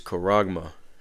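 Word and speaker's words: χάραγμα: All right, going to the blue letter, and the word for that is Strong's G5480, and it is charagma. All right, that's the pronunciation of it.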